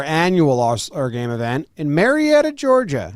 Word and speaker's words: Marietta: We're having our annual Allstar game event in Marietta, Georgia. Did I pronounce that right? Yep. I think so. Do you think they say it more like Marietta? Maretta.